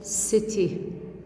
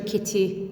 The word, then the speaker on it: city: السي for example طلعوا teacher city ما حكيت teacher kitty no city لأنه إجا ورا السي